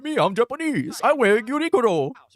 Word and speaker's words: Uniqlo: It said in English it accepted that in English it said unilo but in Japanese yes where the brand comes from originally it said as uniro is how they say it. That's how you should say it.